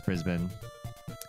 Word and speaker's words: Brisbane: ours is better than yours you're right it's Brisbane New Zealand accent pronounces Ben like Benjamin oh the name Ben